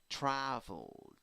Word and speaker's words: traveled: Because both l and d produce vibration right here on your vocal cords. Okay, so ld, traveled.